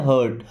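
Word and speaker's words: heart: टू हर्ट, इसे हियर्ट नहीं पढ़ते, क्या पढ़ते हैं, हर्ट।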